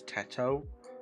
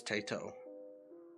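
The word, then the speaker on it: Teto: People People usually call it Tetto though. I think that's the I think that's the correct pronunciation is Tetto. And I've just been saying it wrong. But her own voice bank says Tito.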